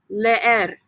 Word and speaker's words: leer: Repítame, leer. Leer. Again, two E's. You pronounce both E's.